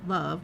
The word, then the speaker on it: LOVB: LOVB, pronounced love with a silent B, has attracted a number of celebrity investors, including Kevin Durant, Chelsea Handler, Amy Schumer, and Billie Jean King.